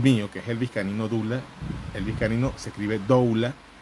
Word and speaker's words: doula: También queda en el canal de YouTube a posteriori, también lo montamos, que también se llama Elvis Canino Doula, se pronuncia Dula.